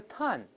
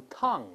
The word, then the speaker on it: ton: 再读一下 ton，ton，舌根是平的，不能动。